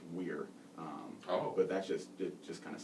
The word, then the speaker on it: vir: And so when I came across the Latin word "veer," which is actually pronounced "weir," but it just kind of sounded weird to do that.